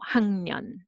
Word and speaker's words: 학년: So sound, because nasal sound n makes the preceding consonant sound slightly change to easy sound. So 학년, 학년.